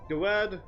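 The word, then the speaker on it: Gadwad: Gawad, your name is Gawad, the D is silent. The first one, anyway.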